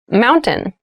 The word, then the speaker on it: mountain: it sounds like mountain the t sound is reduced the little town was